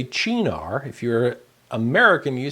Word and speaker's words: Cynar: So we are going to use 1 teaspoon of, let's say it like the Italians, Cynar.